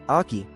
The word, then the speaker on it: oche: The term oche pronounced ai for the throwing line has uncertain origins.